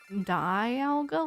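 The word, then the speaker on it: Dialga: I'm like like die alga like diamond maybe looking to warp time on Kylo Ren.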